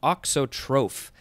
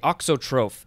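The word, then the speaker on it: auxotroph: is good uh all right next we have oxotroph i just love this because i'm learning all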